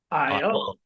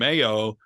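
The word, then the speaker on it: Ayo: Honestly, originally, I remembered how to say it by saying in my head, Old MacDonald had a farm, EIE. IO. And that's how I would tell people who wanted to call him AO that's not how it's pronounced.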